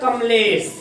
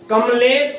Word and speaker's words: कमलेश: अब ध्यान देना, हम कमलेश पढ़ते हैं या कमलेश? कमलेश कहते हैं या कमलेश? कमलेश। देखिए ध्यान से सुनना, कम कम लेश, कम लेश, कमलेश नहीं कहते, कमलेश, कमलेश, कमलेश।